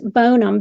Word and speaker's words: Bonham: Um and Flat Grove is where uh James Bonham, B O N H A M, was born. Bonham? Yes. James Bonham from the Alamo? Yes. Here Here they pronounce it Bonham, but um so, James Butler